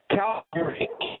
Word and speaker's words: Calgary: Calgary. Calgary, Calgary. Okay. Because I've I've I've heard it as Calgary.